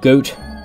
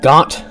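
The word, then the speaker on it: Goht: The boss of this dungeon is Goat, or Got, depends on how you pronounce it. I believe it's Got, but others say Goat, so to each their own.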